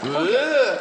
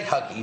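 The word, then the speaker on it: hygge: Yeah, it's spelled huggy, but they don't say huggy, do they? They go, no, they go, like that.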